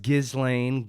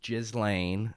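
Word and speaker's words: Ghislaine: so jizz lane uh i've heard it pronounced gizlane gazlan um but it's definitely pronounced jizz lane i know that because it's irish um jaslane maxwell is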